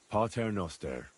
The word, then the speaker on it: Pater Noster: You're saying it wrong. Listen. It goes like this. Pater Noster, qui es in celis, sanctificetur nomen tuum.